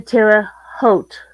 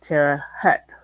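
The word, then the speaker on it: Terre Haute: me we're going to tear a h tomorrow doesn't mean I'll ever be able to pronounce it correctly well it's like oat with an H in front although some people have been known to call it Tera Hut locally um for some reason I've always pronounced it as if it had an au in the middle I have never heard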